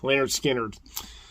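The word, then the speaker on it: Lynyrd Skynyrd: members are alive anymore but it's of course pronounced lard skinnard from lard skinners yeah they are they looking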